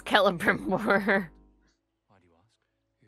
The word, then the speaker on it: Celebrimbor: It was this point that I realized it's not Celebrimbor, it's Celebrimbor.